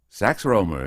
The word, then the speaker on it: Sax Rohmer: Petra it's I believe it's pronounced sex Roma not roma Roma very well I'll try it again sax Rohmer is very good excellent that'll do the insidious dr.